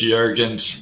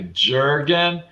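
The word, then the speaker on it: Jürgen: So yeah, everyone needs to push Jurgen's journey. And just so everyone now knows, his name looks like a Jurgen, but it's pronounced Jurgen.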